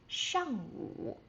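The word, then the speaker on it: 上午: zǎoshang And, when the sun rises, um before noon, we would say shàngwǔ.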